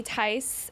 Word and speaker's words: Theis: we've been running around like maniacs today, but we're so excited to have Julie Theis in the lobby with us. The H is silent.